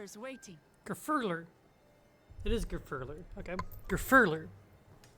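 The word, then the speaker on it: Gurfurlur: It is Grufurler. Okay. Grufurler. So the what do you call it? The emphasis, the stress is on the second syllable there. The fur. So it's Grufurler.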